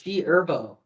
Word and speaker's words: G Herbo: The H is silent. It's G Herbo.